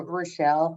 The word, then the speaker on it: Rachel: Um I am going to actually share a screen and um uh you actually pronounce my name Relle.